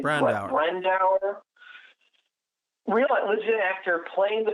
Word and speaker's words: Brandauer: Brandauer.